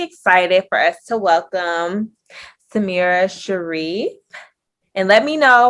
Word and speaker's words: Samira: today i'm really excited for us to welcome samira sharif and let me know if i'm saying it correctly yes you are fine it rhymes with the mirror samira you're perfectly thanks taylor for having me yes